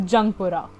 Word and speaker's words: Jungpura: Thus, the resettlement colony was named as Youngpura, which people pronounce as Jungpura.